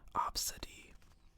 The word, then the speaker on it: Abcde: Uh, and another named ABCDE E pronounced obsid.